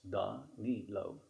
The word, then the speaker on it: Danilo: really not that hard it's done neat low are you sure my